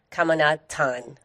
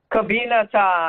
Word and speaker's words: Cabinatan: Please welcome Kamatan. Kabi Kabinatan. Kabinatan. Kabinatan. Kabatan. And, help us. Are we completely mangling your last name? How do you say your last name? Kabinatan. Kabinatan. There you go.